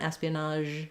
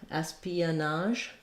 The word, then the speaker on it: espionage: out for is that in the Pia Espionage there can be a little gliding uh sound as we move from the e to the uh we just naturally Glide between those two you won't see them